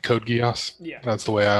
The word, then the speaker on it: geas: I've heard it pronounced Gios, kind of like Code Geass. Yeah. That's the way I always remember. And I've always thought it was chaos.